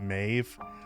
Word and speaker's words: Maeve: That's how to pronounce that, Maeve.